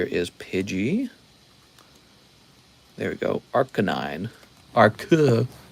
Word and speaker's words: Arcanine: that pidgey james says leon it's actually rk9 arcanine wow it's arc 9.